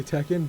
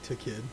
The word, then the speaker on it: Tekken: it that way yeah apparently in all like the promotional material they say Tekken but like in like storylines in the games they say to kid or like anyways pronunciation